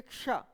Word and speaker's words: क्ष: तो प्रचलन में व्यवहार में जो आ गया है उसका जो मूलतः उच्चारण है उस उच्चारण को हमने क्या किया है, बदल दिया है। इसका उच्चारण होना चाहिए क्ष, ठीक है ना।